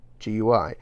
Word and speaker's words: GUI: It's called a GUI, G-U-I, pronounced GUI, meaning graphical user interface.